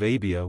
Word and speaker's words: Abia: course the course of ABIA was the eighth in the Old Testament it is called abijah but it would be pronounced as it is spelled here in Luke Zacharias then belonged to